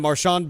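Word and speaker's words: Marchand: It's like when Brad Marshian went from Marian to Marshan back to Marian in a few years, which I thought was great.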